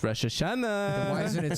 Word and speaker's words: Rosh Hashanah: why do you say it like that it's Rosh Hashanah why isn't it spelled Rosh Hashanah why is it spelled Rosh Hashanah it's spelled Rosh Hashanah Rosh Hashanah